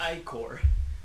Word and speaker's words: ichor: Pronounced ichor.